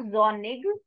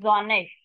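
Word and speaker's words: sonnig: always say asist zish it is not Zig it is zish zish when it's windy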